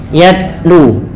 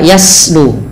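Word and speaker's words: يتلو: sifat hamusnya mengalirnya nafas maka ketika melafalkannya yatl yatlu tidak yaslu atau yatu ya tidak terlalu banyak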